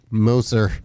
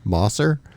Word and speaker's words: Moser: lately by my pal moser hi how do you like that pronunciation that's great moser yeah mosser no it's a first for